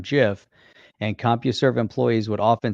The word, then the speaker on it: GIF: wilt of compuserve when deciding on the pronunciation said he deliberately chose to echo the american peanut butter brown jif and compuserve employees would often say choosy developers choose jiff playing off all gifs